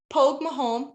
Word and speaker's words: Pogue Mahone: like three times and the way you say it is look at my van it's Pogue Mahone poke with home you have the little